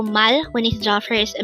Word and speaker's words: 말해: a three syllable word the first syllable is Mal second syllable is he pronounce it with me Mal